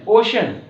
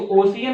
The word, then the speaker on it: ocean: Next है OCEAN, ओशन, ओशन, ये होगा इसका प्रोनाउंसिएशन, ओशन, ठीक है, ओशन। इसको ओशियन नहीं पढ़ेंगे, कुछ लोग